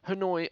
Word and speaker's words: Hanoi: Hanoi, ironically, rhymes with annoy because this race just annoys you.